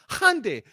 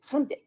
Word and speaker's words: Hyundai: It's Hyundai. Hyundai, you know, if we can and we can at least get say it right, you know, say it with some respect.